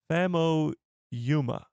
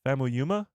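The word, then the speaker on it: Famuyiwa: Fam Yuma is how I've heard it pronounced. Fam Yuma.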